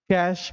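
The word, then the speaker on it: cache: इसको कैश या कैश memory बोलते हैं, सही इसका उच्चारण है कैश मेमोरी, ठीक है।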